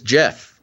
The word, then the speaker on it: Geoff: And he sends a note that says, "My name is Jeff." And in parentheses, he says, Jeff. That's because his name is spelled Geoff.